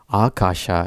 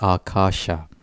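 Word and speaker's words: Ākāśa: So for example, Akasha is pronounced with a long A, so it's doubled, and then there's another long A as well, so it's Akasha.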